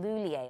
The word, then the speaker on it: Lhuillier: by the third year they were saying Lula not only were they saying her name but